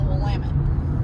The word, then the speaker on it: Willamette: You gotta say it like you're cursing. It's called the Willamette.